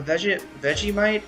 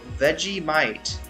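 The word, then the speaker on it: Vegemite: A veggie might is how veggie might is how it's pronounced. I was saying it right then.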